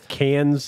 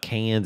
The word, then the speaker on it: Cannes: And I see that the Indiana Jones part 5 got terrible reviews at the Cans. It's not Cannes, it's Can.